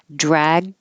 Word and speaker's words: dragged: And these are unusual because I know it looks like dragged and shrugged, but we don't say the G's really at all. By the time your tongue goes to the G position, dragged and your tongue comes up for the D, the whole tongue is pressed up against the top of the mouth. All the airflow is stopped. Drag, shrug, so you won't hear anything.